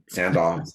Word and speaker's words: Sandoz: Sandoz.